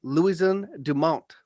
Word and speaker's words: Louison Dumont: wisdom and technological progress welcome to the show louisiana dumont thank you i'm grateful to be here i tried my best to uh pronounce it with the french one how do